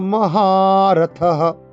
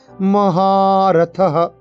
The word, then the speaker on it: মহারথঃ: শিখণ্ডী চ মহারথঃ, মহাতে টান হবে, মহারথঃ।